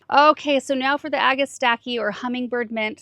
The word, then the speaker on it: Agastache: Okay, so now for the Agastache or hummingbird mint. Some people pronounce it Agastache. I think it depends on your region.